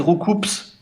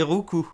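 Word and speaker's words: Roucoups: qui donne des coups il y a beaucoup de gens qui disent rouous ah oui oui oui c'est le la prononciation la plus répandue effectivement mais pour mais rouou ça veut rien dire rouous depuis je pleure en position fétale donc la vraie prononciation c'est rouu bah oui il donne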